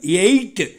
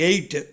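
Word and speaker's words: ate: எப்படி உச்சரிக்கணும், எயிட்டு. எட்டுக்கு என்ன சொல்கிறோமோ அதே உச்சரிப்பு தான் எயிட்டு.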